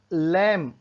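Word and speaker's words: lamb: लैम, लैम मेमना होता है, जो भेड़ का बच्चा होता है उसे बोलते हैं लैम होता है, इसमें बी साइलेंट होता है।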